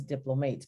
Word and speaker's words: diplomate: specialist you're called a diplomat i know it says diplomates but it's pronounced diplomat and then you have